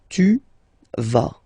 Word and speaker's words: vas: Okay, tu vas. Same thing here, final S not pronounced. Tu vas.